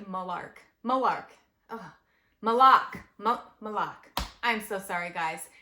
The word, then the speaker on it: Moloch: really liked I really like malar malar malok malok I'm so sorry guys m o l o